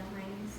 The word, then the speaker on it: Heinz: no, I just was reminded of the Heinz dilemma. Of the I don't know how to pronounce it.